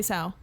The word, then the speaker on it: sow: So is it pronounced so? Sorry, I don't know how the words are. I've only ever seen it read or written. Is it not sow? No, it's definitely sow.